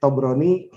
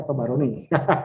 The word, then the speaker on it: Tabarani: malam ini, dapat itu koreksi Tobroni harusnya dibaca Tabarani. Gitu ya, gitu. Kecuali kalau memang ibu bapak saudara punya sumber lain yang menyatakan bahwa Tobroni juga benar dibacanya. Itu ya. Jadi selama tidak menemukan sumber lain, mohon jangan dibaca Tobroni. Yang benar Tabarani.